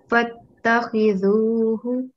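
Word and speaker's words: فاتخذوه: One mistake, this is the letter ha, so this would be fattakhidhuhu.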